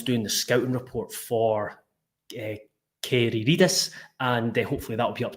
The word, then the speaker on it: Kyziridis: However, we will, Hearts at 4 o'clock announced the signing of Alexandros, and let me get this pronunciation right. Apparently, it's Alexandros Kyziridis. So Alexandros Kyziridis, even though there's a Z in there, but we'll find out more as we come.